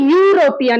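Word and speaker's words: European: unity পরেরটায় কি হয়েছে ইউরোপিয়ান এখানে যতই ভাওয়েল থাক না কেন আমাদের সাউন্ডটা লক্ষ্য করতে হবে উচ্চারণটা হচ্ছে ইউ সেম ওয়াই এর প্রোনাউন্সিয়েশন আসছে তাহলে ক্ষেত্রে এন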